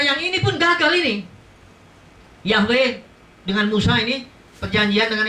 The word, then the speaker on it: Yahweh: Nah, kalau Tuhan menampilkan diri ke Musa, dia namanya Yahweh.